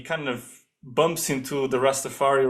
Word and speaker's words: Rastafari: And there's But yeah, also that guy, the Rastafari, but he also oh always yeah, puts the accent on the I on Rastafari and I.